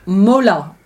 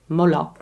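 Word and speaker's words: Mollat: Marlot? Mola. M-O-L-L-A-T. Mola. It's huge.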